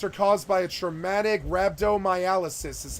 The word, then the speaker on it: rhabdomyolysis: these systemic effects are caused by a traumatic Rhabdomyolysis is how you say that word it's called